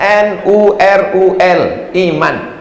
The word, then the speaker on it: Nurul Iman: Iko bacanya kon Nurul Iman. Banyak orang yang tidak membaca kok. Disangkunya bahasa Arab. Enggak. N-U-R-U-L. Iman. Nurul Iman. Membacanya dari kiri, tidak dari kanan.